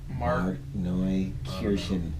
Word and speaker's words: Markneukirchen: Markneukirchen.